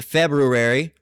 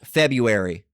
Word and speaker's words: February: Used to be pronounced February. Now it's February.